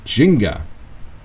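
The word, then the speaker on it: Gingka: Kenta is the kid Jinga whose name by the way is spelled uh g-i-n-g-k-a that's his name and for some other reason that's how you pronounce it doesn't sound Japanese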